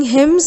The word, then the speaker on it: hymns: sing hymns the letter n is silent in this word we will come later and dig into the meaning of this word new word they used to sing hymns in a comfortable private